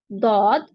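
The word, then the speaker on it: ض: इट इज easier to pronounce दौद from the left side. तो यहाँ देखिए दौद, दौद, इसको जुआद नहीं पढ़ना, दौद।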